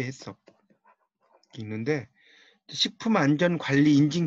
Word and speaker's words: HACCP: 이제 발음 우리말식으로 읽으면 해썹이 해썹.